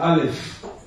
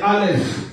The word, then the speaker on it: Aleph: Le Aleph, lorsque ça se trouve dans une phrase, c'est muet.